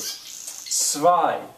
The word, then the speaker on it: zwei: I told you the W's will usually have the sound of a V, sort of. Zwei.